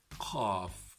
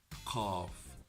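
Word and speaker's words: قاف: So it's more deep, it has an echo in pronunciation, it has more difficulty to pronounce compared to the letter Kaaf.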